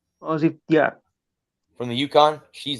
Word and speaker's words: Azzi: Am I Am I pronouncing her name correctly? Azzi?